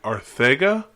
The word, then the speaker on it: Arcega-Whiteside: So and it come out that the pronunciation on that is supposed to be Arthega, which is weird to me. Like I gotta verify that a little more. Yeah. But I heard today that it's supposed to be pronounced with like a TH sound to make it sound Ortega-Whiteside.